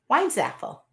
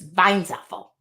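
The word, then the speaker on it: Weinzapel: pronounce my last name wines Apple w-e-i-n-z-a-p -e-l the p is silent I would assume if you're in Germany it's Vines Apple just jumping in I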